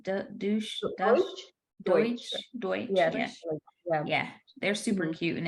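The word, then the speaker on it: Deutch: Deutsch.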